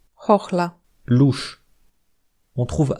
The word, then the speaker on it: chochla: À part ça, H et CH se prononcent exactement de la même façon, Herb, blason, chochla.